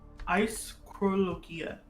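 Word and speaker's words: αἰσχρολογία: Apparently, it's ischrologia.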